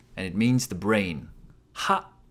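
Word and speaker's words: は: Ha. Ha is pronounced like ha in ha ha ha, like laughing.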